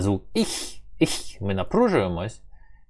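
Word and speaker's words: ich: Воно має у вас стояти ніби в горлі і вимовлятися так дуже з певним з певною напругою, щоб трошки аж у вас боліло горло. Іх, іх, іх. Тобто не не хох, их, а іх, іх.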